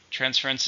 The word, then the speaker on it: transference: How many syllables are in transfer? 2. Stress on the first. Transfer. Please transfer the money as soon as possible. Then we have transference. Transference is the same thing.